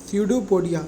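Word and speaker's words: pseudopodia: इसमें P silent है, स्यूडोपोडिया।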